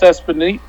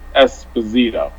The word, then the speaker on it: Esposito: re- shoots again like Carlos espano I keep saying his last name wrongo Esposito he saids something on Twitter